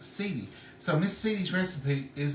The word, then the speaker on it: Celia: Her name is Celia, and it's spelled Celia, pronounced Celia.